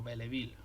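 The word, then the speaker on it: Belleville: llama arandela belle ville que es como se escribe o belle ville cómo se pronuncia y realmente es un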